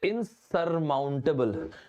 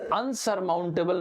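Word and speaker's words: insurmountable: एक पिक्चर तो है ना, क्या रांझना पिक्चर का तो वो डायलॉग है दोस्तों, इसको बोलते इनसरमाउंटेबल। सबसे पहली चीज, अनसरमाउंटेबल नाम का कोई वर्ड नहीं होता, इट इज इनसरमाउंटेबल।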